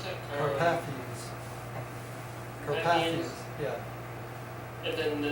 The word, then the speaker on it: Carpathians: How do you pronounce that? Carpathians.